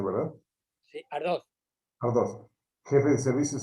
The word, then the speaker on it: Ardoz: los Estados Unidos en Torrejón de Ardos se pronuncia, ¿verdad? Sí, Ardoz.